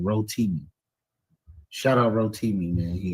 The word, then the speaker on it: Rotimi: And I think you was you was Hotimi. Yeah. I was I was Hoti. Yes, I was the Hotim. Yes, sir. I think I pronounced his name wrong. Rotimi.